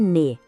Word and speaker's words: nez: Le nez. O som final é bem nasal, ne. O Z no final, mudo, a gente não pronuncia.